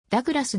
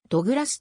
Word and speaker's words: Douglas: 所属ポジションはディフェンダーポルトガル語ではダグラスではなくドグラスと発音元ブラジル代表クルゼイロ